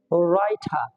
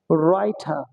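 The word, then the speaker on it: writer: ডাব্লিউ এর পরে যেমন আমরা বলি ডাব্লিউ আর আই টি ই আর, তাহলে এখানে আর এর উচ্চারণ হবে, কিন্তু ডাব্লিউ এর কোনো উচ্চারণ হবে না, এর উচ্চারণ হবে কি রাইঠা, রাইঠা, রাইঠা।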